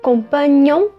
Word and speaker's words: compagnon: Lembrando que vai ter esse GN, que é um pouco parecido com o nosso NH, tem o som de nhe. Então, compagnon, compagne.